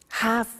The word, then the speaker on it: have to: pronunciation I have to notice I don't say V I say s have half it becomes has to have the 2 becomes in pronunciation has to have two ok so I have